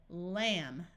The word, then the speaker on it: lamb: er dummer so again the B is silent when the m and b is at the end of a root we can still add